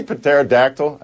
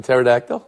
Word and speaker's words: pterodactyl: of dinosaurs boom bang you pronounce the P in pterodactyl that's interesting I chose